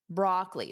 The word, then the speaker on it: broccoli: We have broccoli, broccoli. So notice that second O is not pronounced.